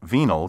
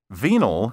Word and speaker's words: venal: 14 of level 9 be careful not to get venal confused with venial venal spelled v-e-n-a-l means corruptable capable of being bribed or bought off venial spelled v-e-n-i-a-a word 16 risible r-i-s-i-b-l-e